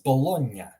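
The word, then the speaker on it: Bologna: minion hear that sound or like an Italian city is not like salami but like Italian city is this would be pronounced as bologa bolog like the GN sound makes in a lot of other languages that's the sound or like if people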